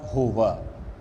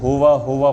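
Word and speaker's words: هو: حمل مواتات یا حمل ہوا. اس کو ہوا پڑھیں گے, بعض افراد اس کو ہو پڑھتے ہیں, وہ غلط ہوگا. باقاعدہ اس کا تلفظ ہوا کرنا پڑے گا تاکہ واضح اور آشکار ہو سکے.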